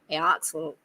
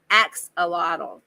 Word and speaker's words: axolotl: I agree that if I could say it right, Aoxetol, however you say it. The little salamander, he is so cute. Oh, axolotl.